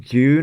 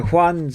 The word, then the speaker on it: Juan: I mispronounced it first as well. It's pronounced Juan. I pronounced it June, I think, at first.